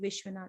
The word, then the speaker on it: Vishwanath: And here how she pronounces her name, Yash Aswini Vishwanath. Even if you are from India, there are different pronunciations of Vishwanath with the H sometimes, so it's important to